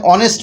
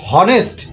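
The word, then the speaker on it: honest: কিন্তু একটা কনসোনেন্ট কিন্তু এইচ এর পরে ও বসাতে এই হনেস্ট হনেস্ট না হয়ে এখানে কিন্তু অ হচ্ছে স্বরে অনেস্ট অ দেখেন অ কিন্তু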